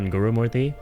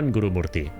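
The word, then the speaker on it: Guru-Murthy: Uh Krishna Gurumorti. Krishna Gurumorti. I'll pronounce his name correctly because I can.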